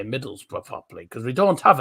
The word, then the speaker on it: Middlesbrough: get loads of people coming up calling us Middlesboro Middlesbrough and people spell it as middles bow on Middle's bow on